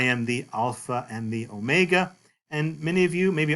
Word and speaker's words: omega: This O, omega, is a long O. A long O, as in the word note.